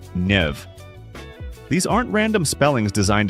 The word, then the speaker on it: Niamh: Take the name Siobhan, which is pronounced Shivach, or Nia, pronounced Nev.